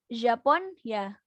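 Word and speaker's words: Japonya: Nah, terus karena di bahasa Turki itu nggak ada nye, ini kan ada, kalau kita kan ada nye ya, N dan Y dibacanya nye kan. Kalau mereka nggak ada, mereka nggak baca nye, jadi bacanya Japon ya, Japon ya.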